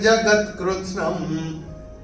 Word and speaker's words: जगत्कृत्स्नं: तत्रैकस्थं जगत्कृत्स्नं। ये अनुस्वार चरण की समाप्ति पे आ रहा है, तो इसका उच्चारण केवल और केवल म ही होगा।